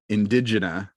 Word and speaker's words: Indegena: So Indigena, that's how you say it properly?